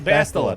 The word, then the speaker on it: Bastila: Bastila.